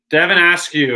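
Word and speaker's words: Devin Askew: back into the tunnel tyrese maxi and devon asks you okay that's that's how you pronounce his name so now he's showing devon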